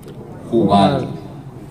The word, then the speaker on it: Jubal: Jubal. J-U-B grande A-L. Jubal. Ok, muy bien. Entonces, Lamec, con K, que se pronuncia Lamec en hebreo, es considerado como el inventor del laúd.